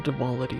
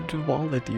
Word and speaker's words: duality: The dwality of Dwality. Is that how you pronounce that? The duality of potato. There's no W in there.